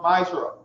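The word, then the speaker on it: Ma'aser: Means tenth in the Hebrew and it's pronounced Ma'ashra.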